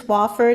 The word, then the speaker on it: Wofford: It's Wofford, and my first name is spelled like two names, space capital, no E at the end.